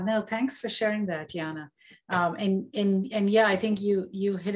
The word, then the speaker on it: Yanna: We have a raised hand, Yana. Hi, thank you. You guessed my name, pronunciation of my name.